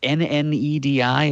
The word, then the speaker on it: Nnedi: By the way, LaGuardia's writer is Needy Okorafor. Oh, yes, of course. It's Nnedi. Is that how her name is spelled?